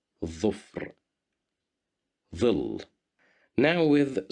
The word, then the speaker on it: ظفر: Here we have the little dha at the beginning of the word ظفر, and it's controlled by the haraka of dhamma. So that's why we pronounce it as dhu, ظفر.